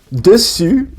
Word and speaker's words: dessus: Okay, so dessus means on top of, and it's spelled with a double S-U-S. And dessous means bottom, and it's spelled with a double S-O-U-S. So to make an U in French, you have to close your mouth. You have to like pucker your lips. U, like that.